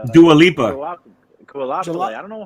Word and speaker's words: Dua Lipa: Dulipe? No, no, it's Dua Lipa.